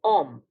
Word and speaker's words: homme: For instance, the word for a man in French is un homme, where Ash is not pronounced.